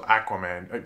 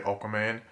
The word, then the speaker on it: Aquaman: in the Arrowverse, or Aquaman? People always get after me because I say Aquaman. It's just how I pronounce it. Like, I know other people that say Aqua instead of Aqua. Deal with it.